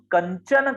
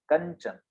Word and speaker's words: कंचन: अगर हम कंचन कहते हैं तो च का उपयोग हो रहा है, तो कंचन ऐसा हम प्रयोग करते हैं, तो ञ का उच्चारण हमारा हो रहा है कंचन।